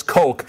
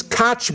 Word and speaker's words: Koch: or how about those Cook Brothers and and sometimes they actually had one other pronunciation and I kept telling them no it's it's Coke it's like Coca-Cola and now everybody knows and